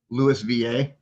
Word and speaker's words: Louisville: How was that pronounced? Louis VA.